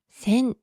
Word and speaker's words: 千: 千尋の漢字、ちは音読みで千と読みます。